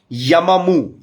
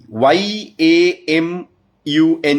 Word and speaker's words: Amun: Lord called uh amum it is pronounced as yamamu y a m u n u or yamun okay so this is